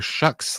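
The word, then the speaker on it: Shough: And Tyler Shucks' last name is pronounced Shuck, like the word shuck, as in shuck corn or shucks.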